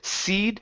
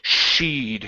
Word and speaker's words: she'd: Okay, give me a good SH instead of seed, she'd. Okay, bad kissing lips. Okay, push the lips out.